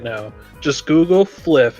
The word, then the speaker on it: Flyff: We're actually announcing the Thunderclub Fliff server.